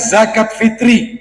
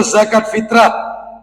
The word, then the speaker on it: zakat fitri: mewajibkan zakat fitri atau zakat fitrah yang bener itu zakat Fitri ya makanya hari rayanya Idul Fitri zakatnya zakat Fitri bukan zakat fitrah sebenarnya Tapi karena ini sudah sering diucapkan oleh orang Sebagian ulama mengatakan tidak masalah baik tapi kalau yang benar penulisan di spanduk itu mestinya zakat Fitri karena penulisan Arabnya zakat Fitri kita lanjutkan Bapak Ibu